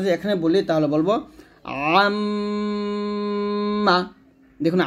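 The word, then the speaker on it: عَمَّ: দেখুন, আইন উচ্চারণটা চাপ দিয়ে, এটা কিন্তু আম্মা বলা যাবে না, হামজা জবর কি হয়? আ হয়, আর আইন জবর আ, এই জন্য উচ্চারণে পার্থক্য বুঝতে হবে। আইনটা চাপ দিয়ে বলতে হবে আম্মা ইয়াতাসাআলুন।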